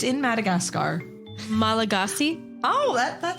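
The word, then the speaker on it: Malagasy: vomit trials what's that so how do you pronounce this word oh it's in Madagascar malagasi oh that's sounds good let's go with that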